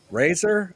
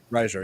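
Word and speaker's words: Reiser: seen his uh the actor um Paul R Riser I'm hoping I'm pronouncing that right Riser yes Paul Riser Paul Riser yes I've the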